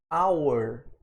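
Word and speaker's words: hour: só quando eu falo our de hora né our our eu tô falando a palavra our sem o h eu não pronuncie o SH our né começou a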